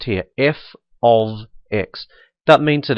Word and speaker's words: f(x): And that's how this is pronounced here, f of x.